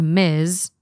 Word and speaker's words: Ms: SS or Ms mrss Miss pronounced Miz Ms doesn't indicate a